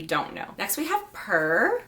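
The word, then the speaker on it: Pehr: Next we have Purr. I believe that's how you say it, P-E-H-R.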